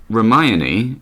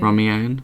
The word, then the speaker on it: Hermione: talking about ship names, she pronounced Hermione, as in Ron and Hermione from Harry Potter. And no matter your feelings on Harry Potter, you pretty much know how to say that. She mispronounced that. How did she say it? Romeo or something. Oh dear. Romeo. It was wrong.